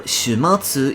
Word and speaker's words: 終末: This could potentially be a pun, as "world's end", or "shuumatsu" in Japanese (終末), is pronounced the same as "shuumatsu" (週末), or "weekend", despite having different kanji.